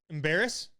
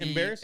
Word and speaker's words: Embarrass: how you say it I think embarrass yeah like the word embarrassing embarrass a r r a SS embarrass yes I think it's embarrass like the word embarrass too embarrass is it good